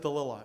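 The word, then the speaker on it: Dalilah: delilah i was delilah she pronounces it delilah anyway these these sprinters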